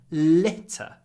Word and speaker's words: litter: there was litter everywhere remember long L short I litter litter everywhere there was